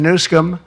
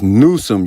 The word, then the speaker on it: Newsom: I was disappointed that Gavin Nuskum see Nusam he pronounced it as it's Nuome you stupid So not only is his core